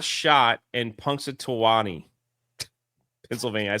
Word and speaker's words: Punxsutawney: How do you say this town? Punxsutawney. Did he spell it right? That doesn't look right. Yeah, it's Punxsutawney. Phil Punxsutawney.